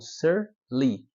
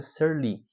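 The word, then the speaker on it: sur lie: processo de produção chamado ser Lee se escreve Surf espaço li Lie mas para você ser Lee que basicamente é o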